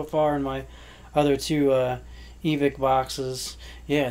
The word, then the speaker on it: Evike: si guys so far in my other two EVIC boxes yeah it's pronounced EVIC I guess I was calling you